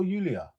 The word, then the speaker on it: Julia: Now listen me, I'm sitting here all the way in East London and I'm mispronouncing her name, saying the J instead of the Y.